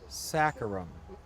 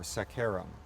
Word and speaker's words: saccharum: The sugar maple is Acer saccharum or saccharum. Okay, you can put your stress on whichever syllable you want, but saccharum says sweetness, sugar, right?